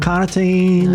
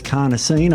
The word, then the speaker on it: carnosine: carnosine in the body not cartine not creatin it's carnosine I'm pronouncing that correctly and that buffers against